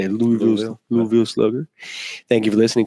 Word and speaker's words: Louisville: Louisville Slugger.